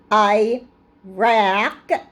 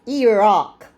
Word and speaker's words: Iraq: when they call it Iraq they know it's Iraq they know it's the opposite it's not Iraq it's Iraq they know when they disrespect